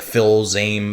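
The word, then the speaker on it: Fils-Aimé: his last name dude it's like phil's aim it's f-i-l-s-a-m-e i think i don't know wow that's a weird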